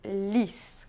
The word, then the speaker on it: lys: Então se diz lys, com S no final, né?